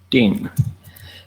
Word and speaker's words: 定: Ding. The English pronunciation, or if you want to pronounce that in Chinese, it's ding, that character.